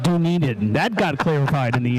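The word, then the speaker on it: Dunedin: right next to dunaden it's pronounced do need it that got clarified in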